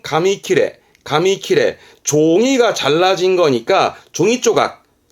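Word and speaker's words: 紙切れ: 발음은 가미키레.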